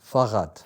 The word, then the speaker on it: Fahrrad: I think it's Fahrrad. Fahrrad, yes. Am I pronouncing it right? Yes, very good. Yes. Fahrrad.